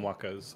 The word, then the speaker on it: waka: Maori called them wakas.